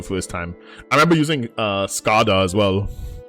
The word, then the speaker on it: Skada: I remember using Skada as well, which is like pronounced funny because it's damage in Swedish. It's Skada, but everyone calls it Skada.